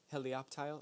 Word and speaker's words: Helioptile: you up hey leo helioptile helioptile i think is how you say that it took me like three weeks to get that right 60 HP thunder shot